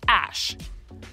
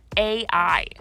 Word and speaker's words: Æ: Elon told Joe Rogan that the AE symbol in his name was pronounced Ash, while Grimes told an Instagram fan it was pronounced AI.